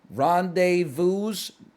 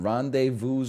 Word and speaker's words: rendezvous: I don't think you pronounce the S in rendezvous.